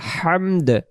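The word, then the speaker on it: الحمد: তখন হাম ইম জবর হাম বলার কারণে দাল অক্ষরটা যে উচ্চারণ হলো না, এর অর্থ প্রশংসা হবে না।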